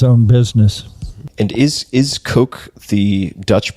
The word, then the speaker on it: Koch: fit their pronunciation so so they pronounced it kaw like a crow CAW Fred call that's the